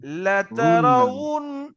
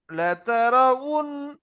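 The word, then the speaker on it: لَتَرَوُنَّ: যাবে ঠোঁটের মাঝখানে কিন্তু খালি থাকবে তাহলে এখানে উচ্চারণ কি হবে লাতারাউন লাতারাউন ঠোঁট দুটো পুরো গোল হয়ে যাবে ঠোঁটের মাঝখান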